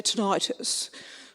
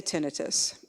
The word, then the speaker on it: tinnitus: And I think if you're British, you can say tinnitus, but most Americans say tinnitus.